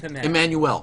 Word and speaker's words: Emmanuel: anyway Game of Thrones Natalie em you can pronounce that it's Emmanuel yes right it's like a there's a French